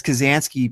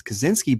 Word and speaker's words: Kazansky: 1992 isn't quite as significant as Kazansky being pronounced as Kaczynski, but when you miss 2 points like Wolves of Steel did, why not try to get a whole new question?